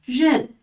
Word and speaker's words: 认: 边是人，它读作日恩认，日恩认，认真的认，认识的认啊。